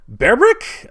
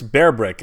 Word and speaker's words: Bearbrick: for me I mean berbrick I I is that how you say it I I'm pretty sure it's bear brick at least the way it's pronounced because honestly I was